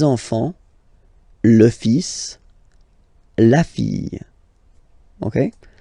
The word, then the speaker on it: enfant: Don't pronounce the T, you don't pronounce the S, enfant.